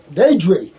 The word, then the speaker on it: Di: my name is i d d i pronounce d Dy oh there we go Dy thanks Dy never